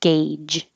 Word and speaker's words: gauge: This looks weird and I always forget how to spell it, but forget about the U, it's A, gauge.